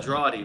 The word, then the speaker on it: Drawde: seen a spell like this how do you pronounce it again it's a draw D my first name oh yeah that's what's gonna